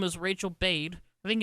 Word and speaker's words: Bade: The woman who posted it, her name is Rachel Bade. I think it's Bade. It's spelled B-A-D-E. I'm not sure if that's bad, but I think it's Bade because A and E would make obeyed.